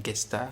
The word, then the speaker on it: Gesta: Donc la geste française en fait, la Gesta, ça se prononce comme ça apparemment, la Gesta Francorum.